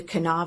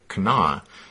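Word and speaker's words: Kanawha: there in West Virginia despite how it's spelled they seem to just pronounce it Cana so that's what we're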